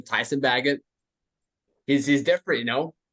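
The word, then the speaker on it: Tyson Bagent: bagett I know how to say his name Tyson bagett he's he's different you know they don't they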